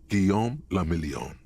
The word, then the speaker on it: Guillaume Lamillion: meant only one thing guillaume lamillion if it doesn't rhyme you're not pronouncing it right out of the dazzling